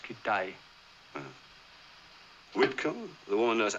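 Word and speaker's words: Kitaj: Kittage. No, it's pronounced Kittai.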